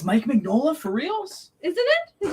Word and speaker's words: Mike Mignola: can't pronounce his name it's mike magnolia that's mike mignola for reals isn't it